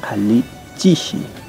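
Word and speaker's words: alli chishi: Ali Chishi. ¿Ya? Así como están pronunciando.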